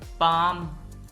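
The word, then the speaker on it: palm: AIIMS खैरात काम स्कून पाम ये लज पाम है इसमें और काम में एल साइलेंट है पाम हथेली छोड़ना या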